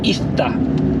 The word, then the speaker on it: Izta: No, pero impronunciable. Es I-Z-T-A-C-C-I-H-U-A-T-L. Bueno, La abreviación sería Ista.